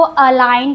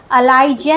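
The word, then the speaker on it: align: जी is silent before N. एन के पहले अगर जी होगा तो जी साइलेंट होगा। इसको अलाइन पढ़ते हैं। अलाइजन नहीं पढ़ते हैं।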